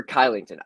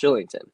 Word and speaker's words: Kylington: a point uh oliver kylington i don't know if they're it's shillington i believe it's actually pronounced shillington but over half a